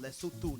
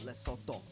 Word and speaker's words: Lesotho: I I've been told multiple times that it's pronounced Lesotho, not Lesotho.